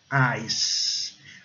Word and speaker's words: ice: O I com o som de A e o C com o som de S. Ice. E o E mudo, para variar. É ice.